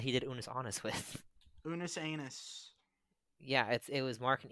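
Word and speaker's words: Unus Annus: It's pronounced Unus Anus.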